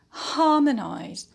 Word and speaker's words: harmonize: on ha harmony uh next word is harmonize harmonize so here we have the verbal suffix eyes